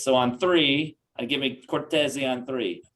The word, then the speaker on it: Cortese: So on three, give me Cortese on three.